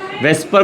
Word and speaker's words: VSEPR: Electron pair repulsion theory, जिसको short form में VSEPR बोलते हैं, वेस्पर प्रोनाउंस करते हैं।